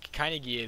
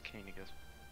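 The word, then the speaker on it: Caineghis: Pronunciation's till the end of time. It's Kainigus. Kainigus? Okay. I assumed it was Kainigi, because I've heard Kainigi more than I've heard Kainigus. Just real world wise.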